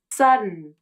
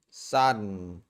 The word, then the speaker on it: sudden: In both cases, the D or T in the final syllable is changed. The D turns into an unreleased D and the T changes into a stop T. The vowel in the final syllable is omitted and the N turns into a salabic consonant.